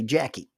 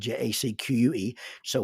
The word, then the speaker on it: Jacque: Jackie spelled Jacque. So when I try to add it into my phone, it wants me to pronounce it as Jacques or Jacques or something like that.